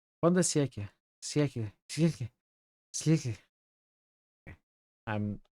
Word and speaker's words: fin de siècle: Finally is not pronounced. Fin de siècle. Fin de siècle. Okay. So Al is not pronounced? I don't know. Google Translate doesn't really pronounce Al. Exotic perfumes hover in intensely localized clouds that you can almost see. Every moment stirs your currents. We read this before. You say Al, but not very loudly.